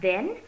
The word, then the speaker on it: then: First word is pronounced as then and the next is pronounced as than, THAN.